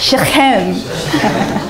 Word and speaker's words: Shechem: You know, every time you see in the Bible the letters CH when you're reading a Jewish name, you have to pronounce it like a like you're like gargling something, you have to spit it out.